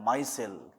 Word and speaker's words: micelle: What do you mean by Michelle? What do you mean by মিসেল বা মাইসেল? এখন উচ্চারণটা মাইসেলও বলে।